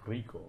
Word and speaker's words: Rico: Rico. It's pronounced Rico.